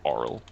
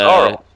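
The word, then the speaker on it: Auril: I'm saying it right I think it's oral oh it's ARL yeah ARL ARL I don't see that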